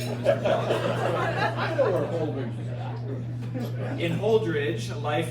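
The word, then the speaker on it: Holdrege: Holdridge, Nebraska. Yeah, we know where that's at. Does somebody know? That's from Hastings. Little order here, eh? Sergeant at Arms on you, Mr. Kelly. I know where Holdridge is at.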